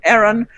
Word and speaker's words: Ayran: quick questions the first is professor am i pronouncing your name correctly audience booing dragger no it's Aaron Aaron just your name Aaron yes Aaron yes